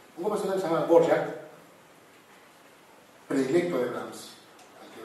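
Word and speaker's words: Dvořák: Un compositor que se llama Borjak, predilecto de Brahms, al que Brahms inclusive padrino. Borjak se escribe como suena.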